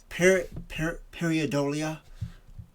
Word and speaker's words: pareidolia: saying this right, but I would say it's pronounced pareidolia. Paredolia. Pareidolia.